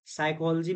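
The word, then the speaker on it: psychology: साइकोलॉजी में क्या हो रहा है कि पी इज साइलेंट, साइकोलॉजी.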